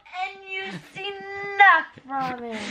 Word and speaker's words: NUC: Spelled N-U-C, nut from it. The nut spelled N-U-C, nut from Intel.